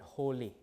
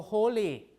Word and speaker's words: holy: If you compare that with the word holy, so holy. You have 2 syllables, right? This is open, this is open. You lengthen ho, right?